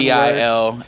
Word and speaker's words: Bilmuri: Wait, Bill Murray's a band? It's spelled like one Bilmuri.